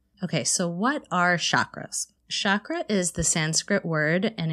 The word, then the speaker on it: chakra: centers being activated okay so what are chakras chakra is the sanskrit word and it means wheel or circle it's actually pronounced chakra but in the west we often say chakra